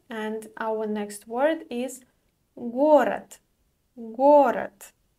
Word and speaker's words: город: Let's move on to the next word, and our next word is город. Город. The voiced consonant at the end is pronounced as unvoiced t.